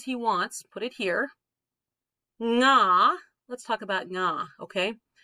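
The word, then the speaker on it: が: Nga, let's talk about nga, okay? Don't make it ga. It's not ga. It's more like the ng sound in like sing.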